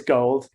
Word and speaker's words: GHOLD: Pretty sure it's Gold. Some people say Gould, and I don't correct them.